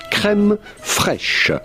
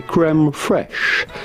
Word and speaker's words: crème fraîche: How do you go about pronouncing this with the typical French pronunciation? Crème fraîche. Crème fraîche. But it'd be fine in English or American to say crème fraîche.